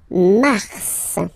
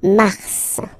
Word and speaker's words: mars: Then mars, okay? So in a way, it's an exception because normally final S is not pronounced in French, okay?